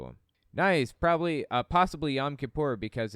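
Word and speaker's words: Yom Kippur: yam kipor off and I understand the proper pronunciation is actually yam Kipper it just kind of depends on who you're talking too if you're talking to somebody who has like a Yiddish accent then they're probably going to pronounce it yam Kipper I think I heard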